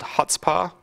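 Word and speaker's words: Chutzpah: I have a thing called HutzPar installed. For those of you who haven't practiced your Jewish lately, it's spelled like that with a C on the front. You just don't pronounce the C.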